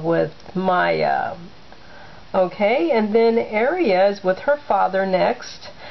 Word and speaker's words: Aria: Yeah, Aria was not very excited about that. And I'm trying to learn to pronounce her name as Aria, not Aria.